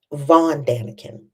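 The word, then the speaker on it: von Däniken: Eric von Danakin.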